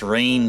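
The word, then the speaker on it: Reyn: I know it's pronounced Rain.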